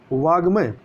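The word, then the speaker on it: वाङ्मय: इसी प्रकार से देखें वाग्मय तो वाग्मय आपका कैसे लिखा जाएगा, ये इस प्रकार से वाग्मय लिखा जाएगा, ना कि मतलब उच्चारण में गा आता है परंतु गा नहीं लिखा जाता है।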